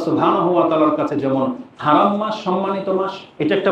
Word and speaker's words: হারাম: এই জন্য দেখবেন মক্কা মদিনার নাম নিতে গেলে বলে হেরেম শরীফ। কোরআনে কিন্তু হেরেম শরীফ নাই, বাইতুল্লাহিল হারাম আছে হারাম শব্দটা, কিন্তু তারা হারাম উচ্চারণ করতে চাই না, মানে তাদের জবান দিয়ে হারাম উচ্চারণটা হয়ই না, হেরেম বলে।